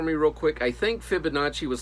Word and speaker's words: Fibonacci: So is that, have you ever heard of like the Fibonacci sequence? I don't know if I'm saying it correctly.